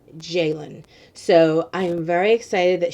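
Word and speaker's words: Ceylan: i did it it's her pronunciation of her name is actually jalen so although it's spelled a c-e-y-l-a-n is actually pronounced jalen so i'm very excited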